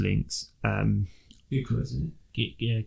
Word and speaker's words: Gyökeres: going to say it my way, but the Gyökeres links. Gyökeres, isn't it? Gyökeres.